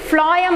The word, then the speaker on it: phloem: See, phloem means you have to just remember like this, phloem. How you are pronouncing phloem? So that phloem for food, same pronunciation almost it is.